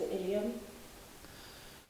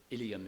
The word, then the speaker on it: Ilium: The Ilium is stressed normally on the first syllable, so you would expect the rest of the word not to be stressed.